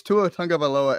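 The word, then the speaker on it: Tua Tagovailoa: up real quick with the tough names it's tuatanga baloa at QB that is how you pronounce his name but so many people do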